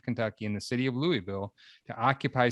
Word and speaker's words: Louisville: said it right louisville i got her it's louisville yeah all right all right so so i